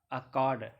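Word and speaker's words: Akkad: देखिए अक्काड, ये जो है ना लिखा हुआ, ये एक्चुअली में इस तरीके से प्रोनाउंस लिखा जाएगा, अक्काड, आप इससे पढ़ेंगे।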